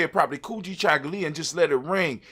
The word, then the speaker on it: Kujichagulia: ability to do it for ourselves and self-determination kuji chagalya when you say it properly kuji chocolate and just let it ring it rings with